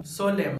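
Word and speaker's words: solemn: इसीलिए ऐसे वर्ड को हम कहते हैं आटम, सोलेम, कालम, डैम, हिम, कंडेम, यानी इन सभी वर्ड्स में लेटर एन साइलेंट होता है।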